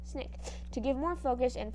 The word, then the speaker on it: SNCC: student nonviolent coordinating committee sc sncc pronounced snake to give more focus